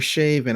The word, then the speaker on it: Chauvin: The murder trial of former police officer Derek Chauvin, or Chauvin, I believe is how it's pronounced, who killed George Floyd